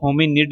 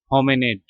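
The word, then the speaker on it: hominid: ठीक है, इसको अच्छा, ये जो होमिनिड नहीं पढ़ना है इसको, ये जो आई है ना, इसकी जगह ई आ जाएगा। प्रोनाउंस करते हुए खाली बता रहा हूँ, स्पेलिंग इसके यही हैं जो लिखे हुए हैं। प्रोनाउंस करते वक्त पढ़ेंगे होमिनेट, होमिनेट। ठीक है, मैनकाइंड, ह्यूमैनिटी, पीपल,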